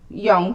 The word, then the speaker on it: Jung: And I spent a lot of time reading the works of Carl Jung, the Swiss psychologist and psychoanalyst, and Young, thank you very much. Wait, that's Queen Turkey? You pronunciation?